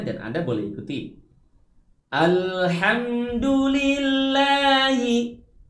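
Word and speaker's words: الحمد لله: Alhamdulillahi. Dalam hal ini ketika kita mengucapkan huruf lam, tahan posisi lidah kita di ujung, ujung lidah kita di langit-langit ditahan al dan melepasnya bersama-sama atau hampir bersamaan dengan bunyi huruf H.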